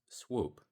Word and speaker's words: SPW: the capitalization and it's pronounced swoop.